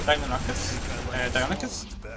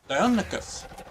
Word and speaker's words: Deinonychus: So these are the red these are Deinonychus. I can never say it right. Every stream I say it wrong. Deinonychus. It's a double vowel with ends that mess me up. Deinonychus.